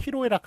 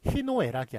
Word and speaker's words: 희로애락: 그래서 희노애락이 아니라 희로애락이라는 것. 요거 로가 잘못 쓰고 잘못 발음되는 것임에도 불구하고 예, 요거를 맞게 했어요. 그래서 희로애락, 희노애락 틀립니다. 희로애락이 맞습니다.